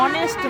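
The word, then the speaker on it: honest: ऑनेस्ट मैन एन ऑनेस्ट मैन। जबकि इसका spelling H ओ एन ई एस टी होता है। लेकिन यहां पे एन लगेगा क्योंकि एच यहां पे साइलेंट है।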